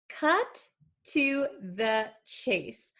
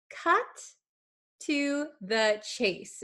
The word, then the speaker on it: cut to the chase: But when we speak quickly, like a native speaker would, this T is going to kind of be erased and join with this T.